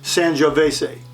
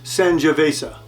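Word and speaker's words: Sangiovese: vase I always mispronounce this one I always pronounce it San Jose but it's sanjavesa nibiolo from Italy uh our last red of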